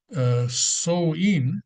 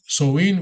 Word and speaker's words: Samhain: The origins of Halloween can be traced back all the way to the ancient Celtic festival known as Samhain, which that's how it's pronounced, Samhain in Gaelic language.